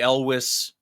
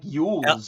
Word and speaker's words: Elwes: Because I've always said like Yules or whatever the fuck it was that I would say. I went Yules, then I went Elways, kind of like John Elway.